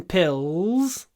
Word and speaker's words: pills: vitamin pills every morning remember it's pills and the is in your throat pills pills I take vitamin pills ills ills when I say pills this part of my tongue it doesn't touch myba the top part of my mouth at all it doesn't touch it my tongue is down here pills and the l i pronounce in my throat pills pills pills vitamin pills pills I